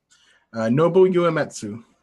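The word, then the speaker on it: Nobuo Uematsu: Nobu Uematsu.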